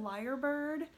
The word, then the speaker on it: lyrebird: up last night but it's called a liar bird but it's spelled l yr bird it's a real bird